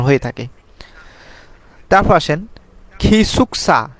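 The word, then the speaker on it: 기숙사: হয়ে থাকে তারপর আসেন খিসুকসা গিসুকসা হবে না খিসুকসা গিয়ক যদি শব্দের শুরুতে বসে তাহলে সেটা খ হবে খিসুকসা অর্থাৎ স্টাফ কোয়ার্টার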